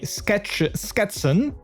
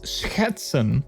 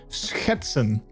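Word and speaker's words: schetsen: well like i think a lot of foreigners have trouble with the sch sound um which i think a lot of people actually would say sketch sketson perhaps if you would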